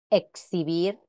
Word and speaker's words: exhibir: al final de palabra representa la secuencia de dos este sonido en examen exhibir o relax se recomienda evitar la pronunciación de esta x como simple s sin embargo en algunos